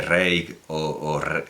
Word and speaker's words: Reig: Josefina Molina, por cierto, tiene un segundo apellido catalán, que es Reig, que evidentemente debería pronunciarse Reig sí, Reig, ya que ella es de Córdoba.